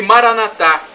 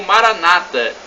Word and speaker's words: Maranatá: E Maranatá, como dizemos nós católicos, ou Maranata, com a tônica na penúltima sílaba, como dizem nossos irmãos separados, os evangélicos. Não importa, esta expressão do